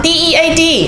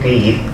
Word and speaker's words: dead: Okay, next one, D-E-A-D. How do you pronounce D-E-A-D? D or dad? D-E-A. D-E-A-D, dad, okay? Dead it's said, like bed, not bead. For goodness sake, don't call it deed.